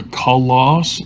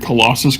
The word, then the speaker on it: Colossus: a kalos is but it sounds like you're not saying the word Colossus correctly also it's a Cobra